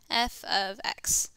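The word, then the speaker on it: f(x): see parentheses x parentheses how we read that is we're going to read that as f of x that is how you say that f of x and so f well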